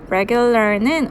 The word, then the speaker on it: regular: Regular는 우리가 어려워하는 R과 L이 다 들어있죠? 그래서 regular이라고 발음하면 돼요. R을 많이 굴려야 돼요.